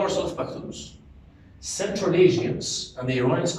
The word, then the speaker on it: Pashtun: You pronounce it Pashtun.